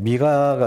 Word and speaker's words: 미가: 근데 제가 한 번씩 잘못 발음해가지고 미가야라고 말하죠. 예. 그러면 미가가 맞습니까? 미가야가 맞습니까? 와, 둘 다 맞습니다. 어떻게 아셨어요? 미가는 미가야의 축약어예요.